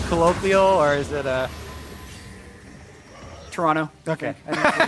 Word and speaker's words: Toronto: prepare to head to Toronto I was told actually by a tweet it's pronounced Toronto with no uh no T oh yeah today I learned Toronto maybe someone else you're